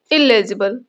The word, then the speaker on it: illegible: इनके प्रोनाउंसिएशन में बहुत थोड़ा सा डिफरेंस है। ये एलिजिबल और ये इललिजिबल। ओके?